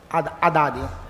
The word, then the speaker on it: Haddad: Haddad, a pronúncia é essa, Haddad, né?